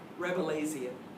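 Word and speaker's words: Rabelaisian: fun has been how do you say this rebelian r a b e l a a i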